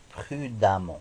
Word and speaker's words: prudemment: ajoute deux mnt et on prononce prudemment comme si c'était ici à aÿ si lourd on